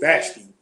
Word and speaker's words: Vashti: Vashti.